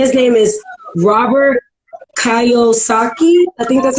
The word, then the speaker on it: Kiyosaki: Now, Robert, I think his name is pronounced Kiyosaki.